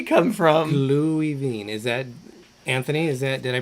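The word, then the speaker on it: Glühwein: That's a W, not a V. I know, but the W is like a V for them. The W is pronounced Why like is a it a V. W instead of a double V?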